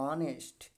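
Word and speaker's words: honest: ओ से पहले एच क्या होता है, देखो ओ है और ओ से पहले क्या है, एच है, तो साइलेंट हो जाएगा। तो क्या हो जाएगा, ऑनेस्ट, ऑनेस्ट, ऑवर।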